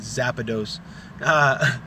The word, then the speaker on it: Zapdos: Now remember, guys, the pronunciation is Zapdos.